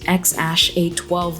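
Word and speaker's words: X Æ A-12: them something like Alligator or Deer or worse, X-Ash A12 like that poor Elon Musk kid. And yes, that's how you pronounce that weird-ass name according to Google.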